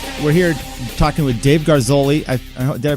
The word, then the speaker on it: Garzoli: We're here talking with Dave Garzoli. Did I pronounce that right, Dave? Yeah. Okay, Dave Garzoli.